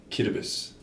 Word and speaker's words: Kiribati: it's like spelled Kiribati hmm but it's actually pronounced cute abyss really yeah it's fine in Japan is a